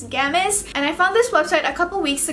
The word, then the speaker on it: Gamiss: channel for today's video I have a gamus I believe that's how you pronounce this website's name it's g a m i SS so it's gamus and I found this